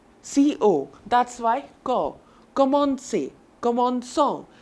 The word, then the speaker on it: commençons: Commençons. But since there's no cedilha here, it will be pronounced how? Commençons. That sounds really weird. And it sounds kind of harsh. It is really rough.